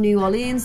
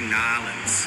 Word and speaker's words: New Orleans: There are some bigger houses in New Orleans that are some, I'm gonna have to work out how to pronounce that word.